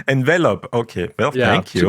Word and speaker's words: Envelop: one uh we say envelop envelop okay well thank you like to the verb to be enveloped en that honestly that